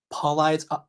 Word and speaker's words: Paulides: I don't follow David uh Paulides. Pauley, so you can pronounce it right.